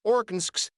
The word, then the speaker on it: Arkansas: It should be pronounced in three syllables, with the final S silent, the A in each